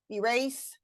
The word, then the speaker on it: erase: Please notice though that we don't always stress the first syllable in the words elope, erase, hotel, and unite. Those have second syllable stress.